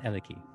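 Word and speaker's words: Helike: Now, it's pronounced, it's written like he like. He like, yes. He like. But it's Eleki.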